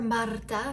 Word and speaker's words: Marta: My name is Marta or Marta, if you can roll your R's, but either way is fine.